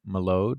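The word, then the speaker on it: Mylod: Um, I was listening to NPR and, um, they interviewed um, Mark Mallo, I believe, is how you say the director's last name.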